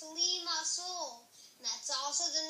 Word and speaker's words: Limassol: and this is say my name it's pronounced Limassol and that's also the name of my Capital